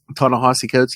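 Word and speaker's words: Ta-Nehisi Coates: you know when T is it tese coat is that how you pronounce his name ton hosy coats yeah yeah that how it is wow totally does mean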